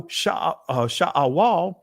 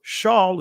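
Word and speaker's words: Sheol: So Sha'awal or Shaul, as some would say, Shoel, however you want to pronounce it. I'm just going to say it from the ancient.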